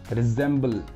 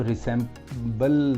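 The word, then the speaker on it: resemble: नाउ रिजेंबल, इसको रिसेंबल नहीं बोलना, रिजेंबल बोलना, वो स्टैंडर्ड प्रोनाउंसिएशन है इसका।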